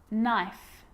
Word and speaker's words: knife: A K is not pronounced when it comes before an N, like knife, no, knee, knock, not, knowledge.